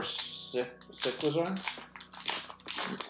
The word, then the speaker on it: Cyclizar: Is it Cyclizar or Cyclizar? I think it's like bicycle, so Cyclizar.